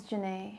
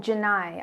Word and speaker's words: Janae: is it like? Spell it like phonetically. Ni, like Janie.